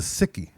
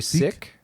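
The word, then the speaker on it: Sikh: pronounce it well I I heard that it's actually sick but people say Seek because it's less so it doesn't sound like sick they believe that they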